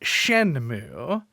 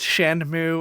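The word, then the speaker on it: Shenmue: to be talking about shenmu uh and I should learn whether that's pronounced shenmo or Shen mu by the time that we record I'm pretty sure it's just shenmo mu like a cow gotcha uh but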